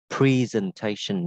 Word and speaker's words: presentation: Đó là từ presentation. Các bạn có thể đọc là presentation nhé.